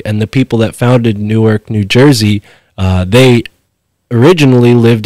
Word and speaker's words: Newark: the town of Newark nobody really pronounces it the way it we are right now new arc but Newark New Jersey uh was